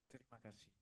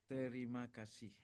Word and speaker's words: terima kasih: Terima kasih. Ooh. Say it again. Terima kasih.